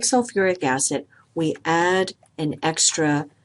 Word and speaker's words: sulfuric: the oxoanion sulfate so we would think that this should be called sulfi acid it's actually called sulfuric acid we have an extra syllable in there and also notice that